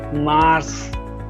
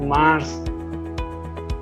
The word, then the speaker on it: mars: very good now mars all right mars it's just like mass all right it's mars